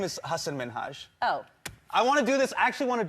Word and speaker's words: Hasan Minhaj: says your name says hassan minaj yeah but the real way you pronounce it and this is a big deal because my parents are here it's hassan minhaj and people always mispronounce it they're always like haseem